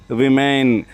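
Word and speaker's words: women: इ एन मैन, वुमन, वुमेन। इसका pronunciation भी note कीजिए कि सिंगुलर अगर कोई लेडी है उसको बोलेंगे वुमन और जब प्लुरल बनाएंगे इ लगा के बोलेंगे वुमेन ऐसे टूथ टीथ फुट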